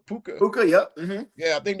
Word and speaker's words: Puka: Puka. Puka, yep.